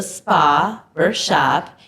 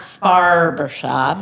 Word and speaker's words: Spa Barbershop: Yes, well, we're on Instagram and also Facebook and TikTok under The Spa Barbershop. And I've heard people mispronounce it. It's not Sparbershop. It's Spa Barbershop.